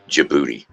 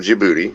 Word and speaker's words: Djibouti: it's capital city is Djibouti where uh somewhere over somewhere over near Africa Middle East area somewhere like that DJ I uh beat o-u-t-i I think Djibouti but the D is silent Africa just so you're